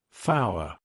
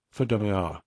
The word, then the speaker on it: four: those Alpha numerical names like Alpha Zulu tree fow 5 I replied a few brief Chuckles arose when I said fow it was one of the oldest jokes in